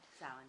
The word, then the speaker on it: Samhain: It's Samhain. Like Samhain. Samhain, yeah.